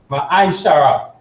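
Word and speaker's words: מעשר: 10 means means tense in hebrew and is pronounced ma shara ten percent of every penny of every increase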